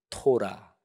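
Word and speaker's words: תורה: 이런 것들이 쭉 들어가요이 세계 덩어리를 히브리어로 이렇게 발음합니다 율법서는 토라 이거는 많이 좀 들어보셨죠 그래도 그 다음에 두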